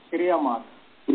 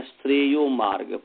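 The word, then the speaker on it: श्रेयो मार्ग: होता है प्रेय मार्ग श्रे मार्ग जी प्रेय मार्ग जो हो गया वो जो है अविद्या है श्रे मार्ग जो है वो विद्या है उसका शुद्ध उच्चारण है श्रे यो मार्ग प्रे मार्ग क्योंकि प्रेयस शब्द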